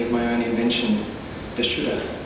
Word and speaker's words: Shuddha: This poem I make use of a kind of deity of my own invention, the Shuddha. It's spelled S-H-U-D-D-H-A, and like Buddha.